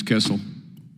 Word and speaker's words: Kissel: All right, Ms. Kissel. That rhymes with missile.